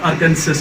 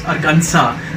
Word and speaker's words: Arkansas: is you know uh it's not arkansas it's arganza the last s remains you know silent there then we have another